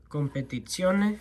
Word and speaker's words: Competizione: We have the Ferrari 365 GTB4 Competizione. That's how you're supposed to pronounce that.